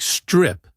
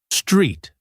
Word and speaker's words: street: Sometimes students make it too short, so it sounds like strip, but we need a long clear e sound. Street.